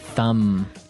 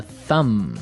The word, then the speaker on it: thumb: So, the pronunciation here, do you say the B at the end of this word? No, I actually only pronounce the M.